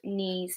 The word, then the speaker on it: knees: If the letter K is followed by the letter N, so we have KN, then the K is silent, like knife, knees, no.